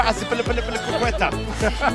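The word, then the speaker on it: Azpilicueta: He didn't pronounce it correctly. It's Kepa Aspilicueta.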